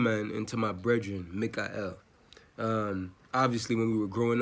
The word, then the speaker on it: Mikael: Because the name Michael, it's pronounced Michael in regular English, though it's correlated obviously to the Torah, you know, Archangel Mikael. So, big up to my brethren Mikael.